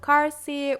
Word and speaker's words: Carsi: reads Pride and Prejudice her name is Amelia carsi which rhymes with Mr Darcy and Miranda is automatically